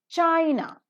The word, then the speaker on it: China: China, the first syllable is accented, but Chinese, the second syllable is accented.